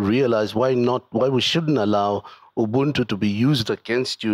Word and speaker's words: Ubuntu: I sounded like somebody who's not African. Ubuntu, it's Ubuntu.